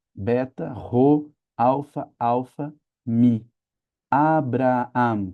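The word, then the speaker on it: Ἀβραάμ: Alfa, beta, ro, alfa, alfa, mi, Abraam. Que a gente fala Abraão, mas ali no grego é Abraam.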